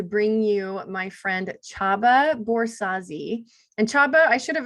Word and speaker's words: Borzási: so excited to bring you my friend Chaba borsazi and Chaba I should have asked you ahead